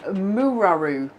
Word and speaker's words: Muraru: Now, I know Alison says, can I just say, Alison says her surname is pronounced Muraru.